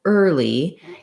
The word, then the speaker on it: early: this one slightly easier because the lee the l and early is a light l it starts its own syllable so i can start from the back lee early and basically i just have a vowel r a light l and a tense e sound early first syllable stress in that word as well so the li is short early and then in our